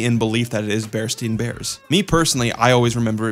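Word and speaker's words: Berenstain Bears: Bernstein Bears versus Bernstein Bears.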